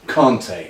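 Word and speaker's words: Kanté: the way it's pronounced Conte as if there's an R in it I sit in an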